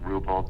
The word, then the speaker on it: Wrubel: in my name and it doesn't sound like it's spelled so it's typical spelling there and last name is ruble wru de l and so if they